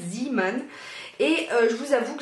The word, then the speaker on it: Zeeman: euh zan et oui ça s'écrit deux œufs donc ça se prononce zan et je vous avoue